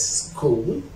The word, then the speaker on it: school: But we have some words center H I cannot pronounce it, such as school, school, school, or scheme, scheme, scheme.